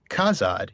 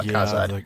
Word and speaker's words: Khazad: And so basically they take that name and they try to pronounce it in their own sounds, and they come up with something that sounds like Hadad. So the Z turns into that sort of that DH softened the.